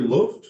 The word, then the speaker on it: Luft: Stan Geert, and is it Luft, like the German word for air? Well, you pronounce it correctly, but during World War II, my ancestors had a survival technique, and we Americanized it to Luft.